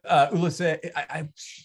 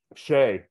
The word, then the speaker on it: Shay: All right, so Ulisai, I'm gonna say your name wrong. How do you say your name, Ulisai? Shay. Ulisai? Just Shay.